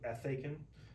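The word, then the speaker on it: ἔθηκεν: Well, we would actually want to stress that first syllable, so ethaken. The difference is, one of the big differences here is that eta is a long vowel. So it's just going to sound longer anyway.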